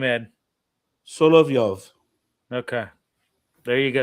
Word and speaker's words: Solovyov: How do you pronounce that last name, Ed? Solovyov. Okay, there you go, Solovyov.